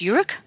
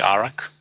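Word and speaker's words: Iraq: was taken in Ur is that how it's pronounced urk uh no it's actually arak but arak yeah depends on the country you're from oh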